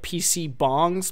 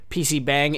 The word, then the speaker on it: PC bang: I believe they're called like PC bongs, PC spelled like bang, PC bang in Korea.